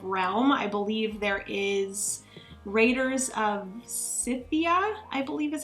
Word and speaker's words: Raiders of Scythia: I believe there is Raiders of Scythia, I believe is how you pronounce it.